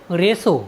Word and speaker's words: ratio: Word meaning है RATIO, रेशो। रेशो means होता है अनुपात। साथियों, यहाँ पर टी के बाद IO आया है, इसलिए हमने टी का उच्चारण स किया है।